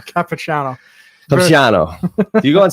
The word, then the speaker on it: Capichano: Capichano.